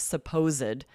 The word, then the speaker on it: supposed: Because here we're adding a whole nother syllable.